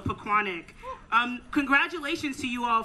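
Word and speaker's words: Pequannock: good afternoon paquanick and thank you to the residents who taught me how to say the name correctly because i thought it was piquanic or you know but it's we want to take pride in our name so pacquanic um congratulations to you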